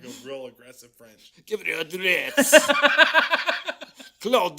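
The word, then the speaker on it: Druillettes: Jesuit fathers, and it'd be Gabriel Droulet, because the S isn't pronounced.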